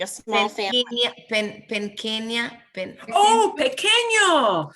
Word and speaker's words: pequeño: That's got an ñ. So that's a good one to bring up now. Pequeño means small in size. Some people get pequeño confused with this word here.